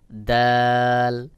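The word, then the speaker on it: دال: তারপরে রয়েছে দাল। দাল স্বাভাবিকভাবে পাতলা করে উচ্চারণ হবে, যেমন দাল দাল।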